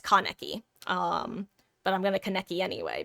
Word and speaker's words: Kaneki: And by that I mean, some of my most enjoyable Kaneki matches have been when I'm not even pronouncing Kaneki right, by the way. It's Kaneki.